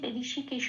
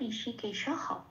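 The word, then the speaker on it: হৃষীকেশঃ: এইবারে এই যে ঋষিকেশ, তাই এই ঋষিকেশের শব্দটার সাথে আমরা অহ এরকম একটা উচ্চারণ করি, সেই জন্য আমরা এখানে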